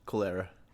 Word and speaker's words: cholera: Cholera. Cholera? Yeah. It's cholera. As it cholera. Cholera? Cholera. Cholera. It's like collar.